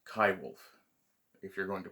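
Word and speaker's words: coywolf: wolf hybrid so or uh as david suzuki mispronounces the name koiwolf uh it's kai wolfe if you're going to pronounce it with a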